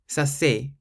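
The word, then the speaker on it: c'est: things to run smoothly so say sounds nicer than sa so if you want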